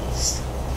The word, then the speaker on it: air: But the way we spell it is A-I-R. A-I-R. So when you just read the word, yeah, you think it's air. You know, you go to maybe a convenience store and you look at a bottle of water and the label says air. You think, why are they selling this bottle of air? So it's actually I. We pronounce it I.